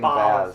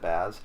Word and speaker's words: Baz: I was saying Boz. Baz. So it's pronounced Boz.